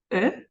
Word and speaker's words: œuf: O sea, no pronunciamos F ni S, pero al singular sí.